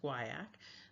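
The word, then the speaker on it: guaiac: Um, with these fecal testing, when we look at the guak, it is pronounced guak.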